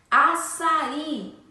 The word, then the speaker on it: açaí: Assim como açaí. Açaí também possui acento agudo, certo? Açaí, sendo que a sílaba tônica é o I.